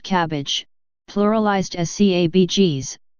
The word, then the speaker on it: CABG: graft is left out the most frequently used acronym for this type of surgery is CABG pronounced cabbage pluralized as cabgs pronounced